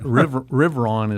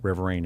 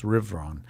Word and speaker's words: Riverain: And he goes, it's actually a French word called the Riveron. And I can't roll my R's. It's, if you speak French, it's beautifully pronounced. Okay, I'll have her try it. Riveron is the correct pronunciation.